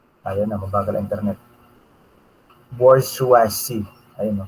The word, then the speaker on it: bourgeoisie: somewhat related to the two large groups, petit bourgeois and underclass. Nahihirapan akong i-pronounce kung gagayahin ko talaga. Kasi, sang-ayon kay Google, kung siya ipopronounce, ayun na, mabagal ang internet. Bourgeoisie.